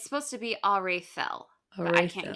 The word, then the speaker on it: Aredhel: it's a TH noise. Oh, I was close. You were clear Of close. So in my it's head, the before I knew that, I was pronouncing it Aredhel, uh-huh. but it's supposed to be Arethel.